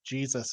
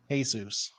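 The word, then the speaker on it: Jesús: Every day on the last day of boot camp, he said, "You know, my name is actually not pronounced Jesus. It's Jesus."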